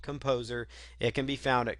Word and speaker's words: KompoZer: Again, Composer is spelled Kompozer. So if you are watching this and wondering what software I'm using, it's called Composer.